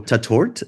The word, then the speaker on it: Tatort: the reboot of the popular 1970s cop show tatort if I'm pronouncing it right am I pronouncing it right